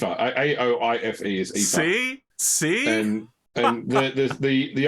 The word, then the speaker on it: Aoife: Or how to correctly pronounce Ifa, which... So, yeah. Siobhan? It's Aoife. A-O-I-F-E is Aoife.